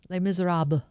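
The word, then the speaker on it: Les Misérables: Les Miserables. Yeah, the S is silent.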